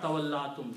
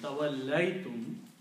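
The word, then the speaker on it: تَوَلَّيْتُمْ: Tawallaytum, it will be pronounced as not tawallatum, tawallaytum, you turned away.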